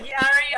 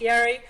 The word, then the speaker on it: Yari: it this way ari i'm sorry i mispronounced your name it's yari um thank you so much